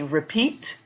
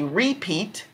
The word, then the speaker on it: repeat: Now, this word is interesting because you can pronounce it more than one way. You can say repeat. You can say repeat. Those are the two ways you say it. Repeat or repeat. So if you say repeat, then of course the strong syllable will be on peat. Elbow.